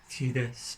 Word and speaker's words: Tidus: So his name, Americans I think pronounce it Tidus, but I've always said Tidus, and that's Tidus is just what it is to me because I guess I'm Scottish, so.